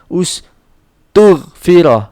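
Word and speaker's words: اُسْتُغْفِرَ: Jadi di dhamma dulu, di dhamma semua. Dhamma ini nanti dhamma ya, bacanya u gitu kan. Tapi kita nggak tulis karena dia hamzah wasol. Dan roknya tetap ya fathah. Jadi bacanya ustughfirah.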